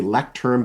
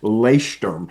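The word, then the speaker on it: Leuchtturm: And I'm also a big fan of the ones that's it sounds like it you say lecturerm, but it's really pronounced leerm is how you actually pronounce it.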